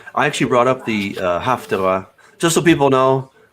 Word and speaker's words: Haftarah: I actually brought up the Haftarah. Just so people know, Haftarah is the Sephardic pronunciation. Haftorah is the Ashkenazi pronunciation.